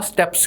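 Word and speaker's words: steppes: ਜਿਹੜਾ ਤੁਹਾਨੂੰ green portion physical map 'ਚ ਨਜ਼ਰ ਆ ਰਿਹਾ ਹੈ इन्हां ग्रासलैंड्स नूं बोलते हैं स्टैप्स, लिखते हैं आप इदां स्टैपीस बोल के, स्टैपीस भी कह देंगे है, लेकिन अप्रोप्रिएट प्रोनाउंसिएशन है स्टैप्स।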